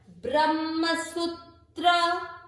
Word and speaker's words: ब्रह्मसूत्र: सु, बड़ी मात्रा, उच्चारण में ज्यादा समय। ब्रह्मसूत्र, ब्रह्मसूत्र।